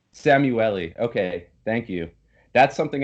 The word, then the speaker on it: Szamuely: I'm well correct you Willie how do I pronounce it correctly Sam you a li Sam you le okay thank you that's something I meant to